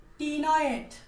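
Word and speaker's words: ctenoid: সেটা হচ্ছে দেহ সাইক্লয়েড অথবা টিনয়েড। ভাই বাংলা লেখার সময় এই সিটা উচ্চারণ হবে না, বাংলা লেখার সময় এই সিটা উচ্চারণ হবে না, তো টিনয়েড লিখবা, বইয়ে আছে।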